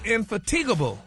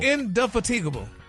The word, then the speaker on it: indefatigable: So the word today is infatigable. Oh, no. Oh, it's no. Indefatigable. Oh, no. What is it? It's spelled out phonetically for you.